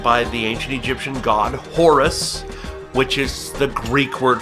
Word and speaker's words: Hor: The falcon represented by the ancient Egyptian god Horus, which is the Greek word for it. The Egyptians pronounced it Hor, H-O-R, but that sounds a little odd on a video if you don't know that.